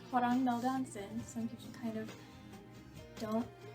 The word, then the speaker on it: hwrngmelldansen: the same username I use on Twitter is pronounced hon M Johnson some people kind of don't know how to pronounce it which is okay it doesn't quite have that many vowels um it is hang malonson and um it is a portm of hang